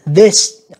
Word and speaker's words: this: Nhưng mà nếu các bạn đọc rung lên nó ra là âm the, the, this nha các bạn. Ví dụ trên câu C thì mình đọc là this, mình thấy rung lên các bạn.